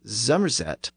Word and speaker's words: Somerset: One of the most notable traits of this dialect region was the tendency to pronounce the initial S sound as a Z, and the initial F sound as a V.